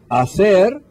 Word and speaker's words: hacer: preguntas to ask questions hacer preguntas remember the H is silent la semana que viene